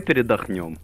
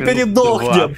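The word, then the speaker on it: передохнём: Бля, брат, давай передохнем. Вот давай нет, за, нет, застопим, нет, застопим нет, эту игру, передохнем. Нет, ладно. Сколько будем передыхать? Мы передохнем. Мы передохнем, а не передохнем. Это ударение расставляй.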